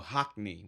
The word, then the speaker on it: Hockney: And they're all using I thought his name was Hockey. No, Hockney with an N. But it's hockey with an N though. It is literally it's exactly how it's spelled.